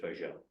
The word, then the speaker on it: Vogel: But that's what they have in Alsace, and so he has a German family name, but he pronounces it in the French pronunciation. So he pronounces it Vogel.